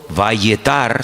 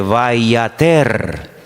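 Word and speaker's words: ויעתר: Es la misma palabra, pero se pronuncia de una forma diferente, vayater. Vayater, vayatar, vayater. Se escribe igual, pero las vocales se ponen diferentes.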